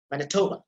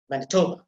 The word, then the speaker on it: Manitoba: see the stress so you have to pronounce it like this manitoba manitoba manitoba you see the last shore vowel that is almost inaudible because that is honest so that is manitoba